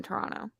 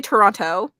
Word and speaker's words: Toronto: we're pretty close the the t is silent technically it's like people say Toronto like Toronto the way